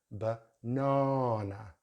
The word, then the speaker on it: banana: So we have here in British English, we have banana. So we have schwa sound on either end, and in the middle we have the long vowel sound R.